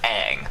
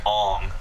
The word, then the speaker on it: Aang: Like the main character's name was Aang, like Boomerang, and they called him like Ong.